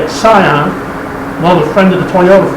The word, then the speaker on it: Scion: 2006 scion yes that's how you say it scion another friend of the toyota family xb b